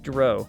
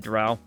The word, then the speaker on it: Drow: I always pronounce that differently. Dro. Oh, Dro. You said Dro? I've always said Drow. I don't know. Drow, Dro. Dark elf.